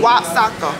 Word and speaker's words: Oaxaca: It's pronounced with the W. Waxaca.